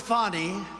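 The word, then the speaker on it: Fani: Biden counts he worked with fonnie even though it's spelled Fanny f a n i fny how about that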